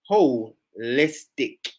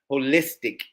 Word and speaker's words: holistic: Okay, Cole Lee, thank you so much, cuz it's pronounced holistic, holistic, holistic. LOL.